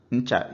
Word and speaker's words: ncha: If you ever say ne, then you're making it consonant because you said ne. Vowel is cha. Ndidi, patience. Ncha is soap.